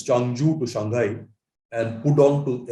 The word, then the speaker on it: Changzhou: Changzhou, ZH is pronounced J in Chinese. So it's Changzhou to Shanghai and Pudong to airport by maglev.